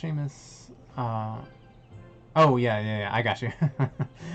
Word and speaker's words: Seamus: Pronounced Seamus.